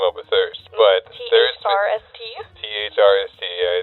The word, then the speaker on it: THRST: THRST, yeah. It's kind of cool the way it's spelled. I get a lot of people saying first coffee. And after the third time I've corrected, I'm just like, yeah, first.